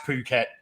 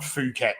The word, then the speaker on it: Phuket: But yeah, it's pronounced Phuket, not Phuket, which is how a lot of people get wrong.